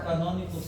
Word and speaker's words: canônicos: Os canônicos têm um chapeuzinho? Tem o chapéuzinho. Bom? Aí a aspiração tônica é na segunda sílaba. Canônicos.